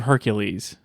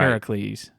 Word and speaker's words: Heracles: and the other one is the blood of Hercules no that's not Hercules what's it called man say it right Heracles Heracles I that's the most ghetto thing I've